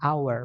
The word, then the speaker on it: hour: Karena 1 jam itu tulisannya jam kan hor pakai H ya, tapi bacanya enggak enggak dibaca H-nya. Bacanya adalah hour. Makanya kita bilangnya an hour bukan a hour ya, tapi an hour.